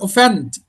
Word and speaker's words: offend: Let offend or offend? Offend. Offend. Offend. So the stress lies here on the second cell.